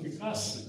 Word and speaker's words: Пикассо: Когда только уже эту тему продолжать, то, вы знаете, в этом, наверное, мне в раз у Пикассо, типа правильно говорить Пикассо, хотя мой студент, когда мы его управляли, Так он говорит, так, где хочу, там и буду я.